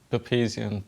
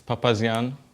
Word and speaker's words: Papazian: Uh, Usually everybody messes it up here. They say or or or Papazian, Papazian, all of it. So one more time, it's Papazian and it's Papazian.